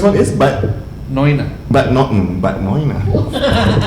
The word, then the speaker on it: Neuenahr: Because it's spelled KOLN. Yeah, but still. Yeah. And the first one is but Neuenahr. but noina.